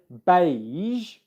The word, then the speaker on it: beige: For zh, as in beige, it's the same mouth position as the sh sound.